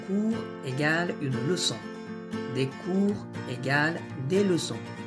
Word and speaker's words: cours: Des cours égale des leçons. Prononciation, on dit un ou des cours, sans prononcer le S final.